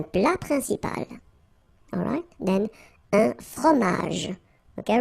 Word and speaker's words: fromage: Then, un fromage. Okay, remember, G-E-J. Okay, in that case, you don't insist on the final j. Fromage.